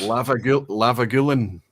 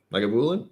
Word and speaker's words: Lagavulin: Lavagulin. Lagavulin? Lagavulin? Lavagulin, he's saying. My favorite mispronunciation is Lavagulin. I was like, what? That's not how you say it, Roy.